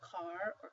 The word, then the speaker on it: caro: The first word means car or cart. The second word means expensive. This one would be pronounced carro, whereas this one is caro.